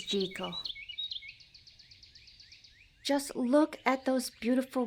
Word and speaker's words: Jekyll: I want to say Jackal so bad, but I know the proper pronunciation is gal.